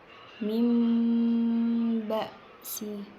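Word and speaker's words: مِنْ بَأْسٍ: Contoh selanjutnya itu ada lafadz min ba'si. Di sini ada nun mati bertemu ba, dan itu ada di atasnya ada mim kecil. Dan cara bacanya itu nunnya diubah ke mim. Mim ba'si gitu.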